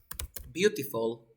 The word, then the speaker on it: beautiful: When you have a T between two vowel sounds, you speak Spanish, so you pronounce the T or D because you have a T or D. Like R and the word Carolina.